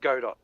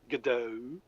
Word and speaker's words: Godot: kind of settled on Godot, which apparently is pronounced Godot by the devs. So I'm not going to call it Godot.